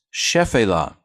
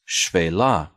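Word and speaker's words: Shephelah: chef Ayla this looks like it should be pronounced chef Ayla but the first key is what's called in Hebrew 1/2 Val or short Val so it's actually pronounced shui la and this just means low hills or in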